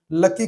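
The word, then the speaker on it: 락희: इन्होंने पहला product makeup cream लकी cream के नाम से बनाया। यहां पर लेक हुई का उच्चारण लकी है।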